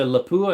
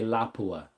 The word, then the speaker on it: Lapua: Some people say Laoola and some people say Laapua. I say Laoola.